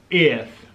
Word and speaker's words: eð: Yeah, put out your tongue when you say it and no one thinks you're retarded.